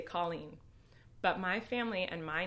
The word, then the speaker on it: Colleen: You say Colleen. But my family and my name, like how it is pronounced, is Colleen. And it's not Colleen. It's Colleen. Like Colleen. Like well, how like Irish people say it.